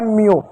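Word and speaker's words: mew: ठीक, उसी प्रकार एक और शब्द आ रहा है एम ई डब्ल्यू, एम का आधा म लिखेंगे, ई डब्ल्यू का यू लिखेंगे, हो जाएगा म्यू।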